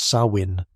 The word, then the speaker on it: Samhain: They called this time someh pronounced sawin.